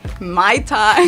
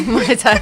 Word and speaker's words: Muay Thai: Honestly, I have heard Muay Thai, Mai Tai. Muay Thai. It's not a drink.